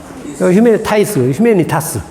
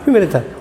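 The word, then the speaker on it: humanitas: 영어로는 휴메니티아이에스 타이스, 휴메니타스, 휴메니타스. 이것은 영어식 발음이고 라틴어식 발음은 휴메니타스.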